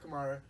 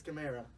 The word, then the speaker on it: Kamara: people say it wrong it's not tomorrow it's chimera cut there oh thank